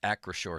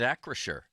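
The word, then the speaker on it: Acrisure: through September 2nd at acore Stadium huh there's a little pronunciation here that says acore I think I've been calling it Acer does that uh is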